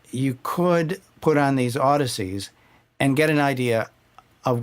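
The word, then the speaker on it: Audeze: to my collection the they're pronounced Odyssey and they're spelled a UD d e and the model that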